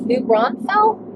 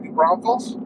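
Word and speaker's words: New Braunfels: headed to new brunfels new Brunell how do you say that that's right new Bron Falls new Bron Falls yeah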